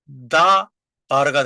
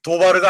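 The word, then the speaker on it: דָּבָר: 그래서 다 바르 다 바르가 되는 거예요. 도바르가 아니고 다바르가 되는 거예요.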